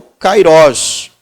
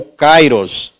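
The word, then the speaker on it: καιρός: completa então esse tempo é o Kairós ou Kairos tá as duas pronúncias não estão erradas na língua grega Tá bom então Jesus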